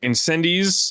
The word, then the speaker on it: Incendies: by our lord and savior cody we watched incendiz uh by denny villeneuve it's pronounced similar to the way i just said